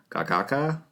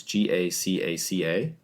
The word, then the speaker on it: Gacaca: they started a grassroots judicial system called a Gagaka. I don't know how to pronounce that. It's Gacaca.